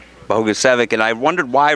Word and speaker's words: Bogusevic: how to say it it's bogus evic and I wondered why